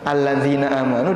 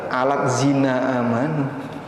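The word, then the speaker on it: الذين آمنوا: Ini kayak gini bacanya. Bacanya alladzina amanu. Dibaca alat zina amanu karena transliterasi.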